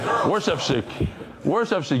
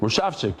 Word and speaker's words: Worshik: Worshik. He doesn't even know how to say it. It's worshik. That's how you say it. Worshik. Is he right? That sounds a lot better. Worshik like just shik.